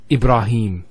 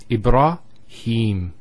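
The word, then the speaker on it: Ibrahim: Next word ibraim. So here notice here the ra followed by the al if once again it's a a long vow ibra not ibra ibra ibra and then ibraim.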